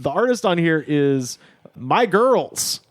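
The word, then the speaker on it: Migyrlz: And the artist on here is My Girls, which is spelled M I G Y R L Z.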